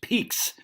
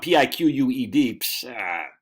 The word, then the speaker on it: Peaks: Peaks. It's not Piq Us. Peaks. Nah, dude. That's That's how the French pronounce it.